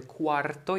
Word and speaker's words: cuarto: Piszemy w ten sposób, wymawiamy cuarto, jest to bardzo podobne do cuatro, czyli cztery. Litera ry i ty tylko są przestawione ze sobą, więc tutaj uwaga.